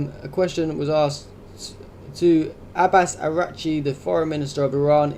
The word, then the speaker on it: Araghchi: W, Araghchi. Is that how you say his name? Araghchi, yeah.